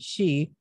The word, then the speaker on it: Sidhe: let me pronounce it for people it's called she i mean she but it's spelled s-i-d-h-e which is his yes has his